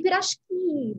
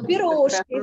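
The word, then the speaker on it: пирожки: We say pirashki, by the way. If you want to sound Russian, say pirashki, not piroshki. Not, The stress on the last syllable.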